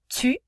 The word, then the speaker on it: tu: Tu, where the U sound has that E, where you're going, saying E and quickly changing your mouth to a kissy face to get that proper U sound.